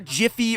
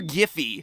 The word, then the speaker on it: GIF: used anything from immature jiffy or giffy depending on how you pronounce it are you one of